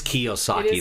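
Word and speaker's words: Kiyosaki: Kawasaki. Kyosaki. Ki. It is Kiosaki. That's okay.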